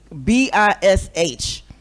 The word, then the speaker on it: bish: Just like I wish women would get rid of I don't even know how to pronounce it, but it's B I S H.